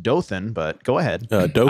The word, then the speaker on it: Dothan: very cute downtown like i just believe it's pronounced dothan but go ahead uh dope i don't i